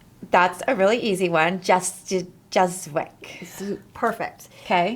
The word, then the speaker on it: Juszyk: Justwick.